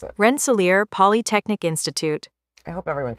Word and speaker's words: Rensselaer: This is how you pronounce it. Rensselaer Polytechnic Institute.